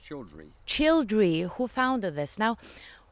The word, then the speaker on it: Childre: It was Doc Childre or Childre? It's pronounced Childre.